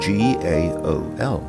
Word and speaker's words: gaol: In former times, the word jail could also be written as G-A-O-L, but this has fallen out of use for some time now. G-A-O-L is pronounced in exactly the same way as jail.